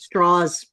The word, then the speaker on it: Strauss: Straws. It is Strauss, but he made a point of pronouncing it straws because he wanted to sound American and Southern.